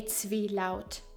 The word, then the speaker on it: Zwielaut: First of all, what is a Zwielaut?